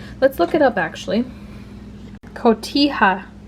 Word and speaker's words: Cotija: Cotija. Cotija.